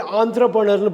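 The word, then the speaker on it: entrepreneur: அதே மாதிரி ஆந்த்ரப்ரனர்னு படிக்கணும், என்ட்ரப்ரனர்னு படிக்கக்கூடாது. ஆந்த்ரப்ரனர்னு படிக்கணும்.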